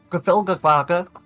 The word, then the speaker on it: Gafilgafaka: It's Gafilgafaka, which is Gnomish, obviously.